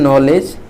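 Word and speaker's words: knowledge: 39 तो 39 कौन कहूँ which letter in नॉलेज is silent in pronunciation तो ये आपन क्या द्वारा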